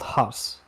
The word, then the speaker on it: Haas: all what is your name i am called haas spell that for me h a a s